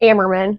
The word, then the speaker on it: Ammerman: Ammerman. Ammerman.